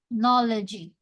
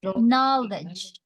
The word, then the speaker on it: knowledge: knowledge know okay knowledge so remember you don't need to pronounce this one knowy knowledgy just knowledge knowledge no G okay now let's try